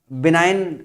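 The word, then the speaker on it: benign: बिनाइन एक शब्द होता है, मैं पहले इसको बेनिगन पढ़ता था, बाद में पता चला कि बिनाइन इसका जो है शुद्ध प्रोनाउंसिएशन होता है।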